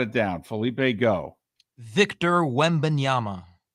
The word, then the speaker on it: Wembanyama: Everyone would have to pronounce his last name. Felipe's already got it down. Felipe, go. Victor Wembanyama. Wembanyama is not that difficult.